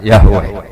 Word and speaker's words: Yahweh: Iku nak teng ejaan Latin Y besar, A H besar, W E H besar, Yahweh.